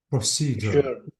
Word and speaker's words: procedure: a procedure notice that the procedure ends with s u r e so any s e at the end you have to say sure procedure okay okay okay let